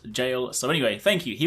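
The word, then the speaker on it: Gaol: old english word and it's not pronounced gal it is pronounced jail so anyway thank you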